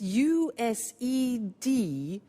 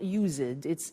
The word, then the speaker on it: used: spelling s it's it's us ed and then tio but the pronunciation is not user ditz used unusual used okay so the example